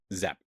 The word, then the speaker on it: Giap: looked it up, it's Zap. Zap? Yeah, it's spelled Giap, but apparently it's pronounced Zap, which I think is kind of fun.